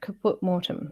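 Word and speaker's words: caput mortuum: put up there so what is it caput mortem it me perfect thank you for that so I was saying it right kaput mortem okay cool it sounds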